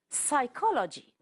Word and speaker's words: psychology: are silent next word psychology the p is silent write the W is